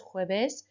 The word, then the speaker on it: jueves: Hopefully you remembered as well, los jueves, although we pronounce it like an H, it's written with a J.